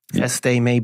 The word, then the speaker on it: Veste: And certainly, it's it's impossible to believe anybody would mourn the departure of Vadin Vest. Veste is how it's pronounced.